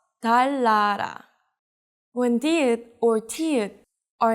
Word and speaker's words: 달나라: So this is not 달나라, but 달라라.